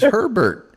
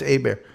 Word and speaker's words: Hebert: No, it's Herbert. It's Herbert. No, it's Hebert. Then finally he got me to pronounce it properly.